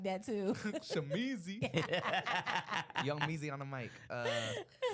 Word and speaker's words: Shamizee: Shamizee.